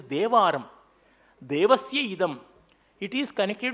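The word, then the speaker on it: தேவாரம்: It is pronounced as Teva, written as Tevaram, but its correct pronunciation is Devaram.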